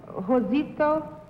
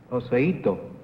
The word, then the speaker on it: Joseito: Number 2, who was, and I may pronounce it wrong, Josito? Josito? I beg your pardon? Number 1, could you tell me? Joseito. Yes.